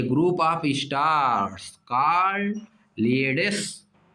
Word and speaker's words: Pleiades: Group of stars called प्लीयेड्स, वैसे देखो पी लिखा है, प्लीयेड्स, ऐसे स्पेलिंग याद करना है तो ऐसे पढ़ना पड़ेगा, प्लीयेड्स, PLEIADES, इन the taurus constellation, taurus constellation का एक स्टार है, समझिए, कृतिका।